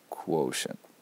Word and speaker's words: quotient: So the question becomes, not quotient, need that K sound, that hard C sound. Quotient.